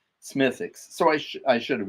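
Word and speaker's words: Smithwick's: And and it made sense because one of my favorite Irish beers is Smithix. And Smithix is has an has a W in it. Smith Wix, but it's pronounced Smithix.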